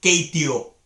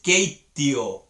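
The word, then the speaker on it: keittiö: Y tú tienes que darte cuenta que ahí en keitio hay dos T's. Y no es keitio. No, es keitio. Hay dos T's ahí.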